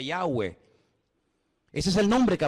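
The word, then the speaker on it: Yahweh: letras y Bad he verdad ese nombre se pronuncia yahwe Ese es el nombre que aparece en el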